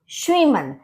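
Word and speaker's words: Schwimmen: badminton दास श्रीमन दास शमन देखिए सीच होता है वो भी शा बोला जाता है एस भी लग जाता है उससे पहले तब भी वो श का ही साउंड करता है तो यह आपका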